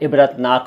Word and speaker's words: इबरत: इबरत भी मैंने देखिए दो तरह से लिखा है, इबरत और इबरत, दोनों ही तरीके सही हैं, लेकिन चलता ज़्यादा पूरे अक्षर वाला है।